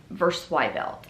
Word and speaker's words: Versweibelt: My last name is Versweibelt. That's how you say it.